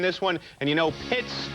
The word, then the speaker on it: Pitts: And you know, Pitts rhymes with mits.